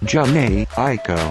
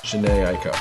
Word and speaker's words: Jhené Aiko: You guys know I'm working on a pronunciation, so that one there, well, I had to look it up. Jhené Aiko. Jhené Aiko.